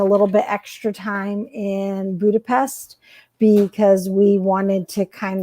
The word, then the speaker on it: Budapest: And from them, I learned that it's pronounced Budapest.